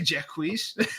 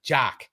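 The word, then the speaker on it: Jacques: Jack Quis. You said Jack Whis. Which by the way, that's Yeah. Which by the way, I called him Jquis like for the first, you know, 15 years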